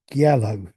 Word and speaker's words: giallo: Then I think it's pronounced Giallo, which is the Italian horror things.